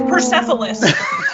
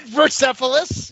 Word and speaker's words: Persepolis: going to mispronounce it it's persepholus no not versephilis you're not getting perceived